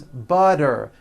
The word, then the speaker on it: butter: she's feeling better and butter becomes butter please pass the butter this should be simple